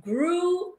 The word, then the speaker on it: grew: Então, o passado de grow up, que é crescer, no passado vai ser grew up. A mesma pronunciation do blue. Grew blue.